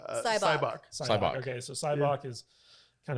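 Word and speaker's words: Sybok: how do you pronounce his name? Cyborg. Cybok.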